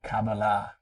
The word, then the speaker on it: Kabbalah: I'm Um, just recently learning more about, you're pronouncing it Kabbalah? Is that right? Kabbalah, yeah.